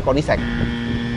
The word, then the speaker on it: Koenigsegg: Ngomongnya sih namanya Koenigsegg. Sebutannya. Koenigsegg, betul? Salah juga. Jadi yang benar apa? Lu Koenigsegg.